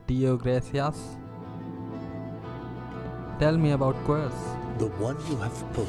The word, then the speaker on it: Quirce: So, his name is Quirce. I was pronouncing it wrong the whole time, but it doesn't matter.